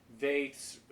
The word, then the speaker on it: Veith: And we'll also be touching on Veith's, the reading from Veith's Reading Between the Lines,